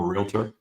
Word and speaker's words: realtor: Um I'm a realtor. Some people down south here, they like to call me a realtor. Um, but it's two syllables.